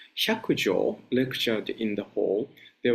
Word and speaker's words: Hyakujo: When Baijan, I'm sorry, I'm going to use the Japanese pronunciation, Hyakujo lectured in the hall,